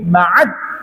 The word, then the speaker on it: Ma'ad: Ibni Mudharab ibni Nizar ibni Ma'ad, dalnya tasydid ya, Ma'ad ya, Ma'ad ibni Adnana.